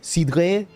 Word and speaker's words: cidre: And they were like, it's like, and I had to say it like with a French accent, like, cidre?